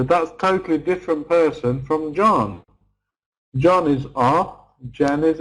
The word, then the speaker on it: John: need to have John we need to have o in John if you've got a